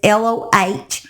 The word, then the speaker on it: Lohr: One goes by the name Little Rhyme, and the other is named Cody Lohr. Lohr? I don't know how you say it exactly. It's Lohrer.